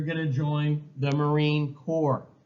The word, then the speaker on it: Corps: to join the Marine corpe you don't pronounce the S it's kind of a French thing so the expedition was